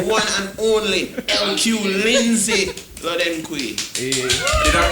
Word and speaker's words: Lodenquai: The lady, the one and only LQ Lindsey Lodenquai. Hey. Did I pronounce it right?